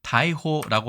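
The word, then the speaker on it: 大法螺: 발음은 다이호라고 하는데 그죠?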